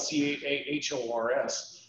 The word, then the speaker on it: Cahors: So Cahors is spelled C-A-H-O-R-S, pronounced Cahors.